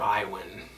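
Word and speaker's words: Iwan: is ap chemistry and my name is mr iowin it's spelled i w a n i know it's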